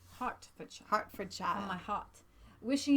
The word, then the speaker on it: Hertfordshire: Have a It's lovely pronounced birthday. Hertfordshire. Hertfordshire.